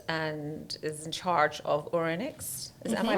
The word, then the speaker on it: Ouronyx: Ida owns and is in charge of Ouronyx. Am I pronouncing it correctly? Correct, you pronounce it Ouronyx, perfectly.